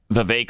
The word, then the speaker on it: Vivek: that yeah I mean it also rhymes with fake yes it does people